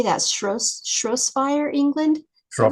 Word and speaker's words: Shropshire: Shropshire, England? Is that right? Shropshire.